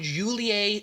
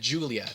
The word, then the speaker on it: Julie: characters tor coconue and julie sigtuna i almost said julia because it's kind of how it's spelled um tor coconue is